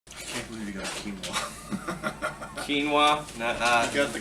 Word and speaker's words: quinoa: i can't believe you got quinoa quinoa i got the quinoa milk that's canola milk yeah no no whoa how does that